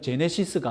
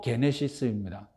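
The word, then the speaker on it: γένεσις: 자, 기원을 뜻하는 헬라어가게 제네시스인데 현대자동차 이름 제네시스가 아니라 그건 영어식 발음이고 헬라어로 게네시스입니다.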